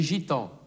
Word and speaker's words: Gitans: Die Zigeuner, les Gitans. Les Gitans. La gymnastique. La gymnastique. Das G vor einem E, I oder Y wird stimmhaft ausgesprochen.